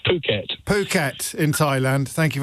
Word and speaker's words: Phuket: I never know quite how to pronounce it, Howard. And remember, this is a family programme, so you go first. It's Phuket.